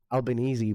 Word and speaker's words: Albanese: Pronunciation with Albanese, I don't blame them for pronouncing it like that. Albanese, but you wouldn't get that from reading it.